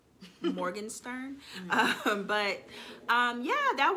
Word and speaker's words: Morgenstern: now it was uh i said her name wrong aaron morgan morgan morgenstern um but um yeah